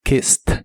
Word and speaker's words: kissed: en el pasado es kissed este sí es un verbo regular Así que en el pasado termina con e d Aunque estas dos letras que le agregas se pronuncian como una t k Kiss en el